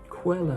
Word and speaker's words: Coelho: How do you go about pronouncing his name? Paulo Coelho. Quello. Paulo Coelho.